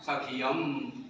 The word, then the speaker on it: सक्षम: सक्षम लिखा है सखियम, ऐसा पढ़ेगा। तो पाठ का सुनना जरूरी है।